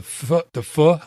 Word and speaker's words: pho: So the pho, is that how you say it? Pho. Just think like you're saying the 4-letter word without the last two letters. Don't finish the word.